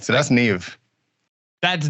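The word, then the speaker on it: Niamh: all right so that's Nev that's Neve yeah uh MH is a v sound for some reason um imagine when you're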